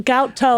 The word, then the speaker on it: Goutos: I just gout The toes. gout toes. Because I have them sometimes. People have told me that it sounds like gout toes.